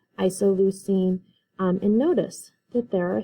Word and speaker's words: isoleucine: And all of these that end in ine are pronounced ene, so phenylalanine, leucine, isoleucine.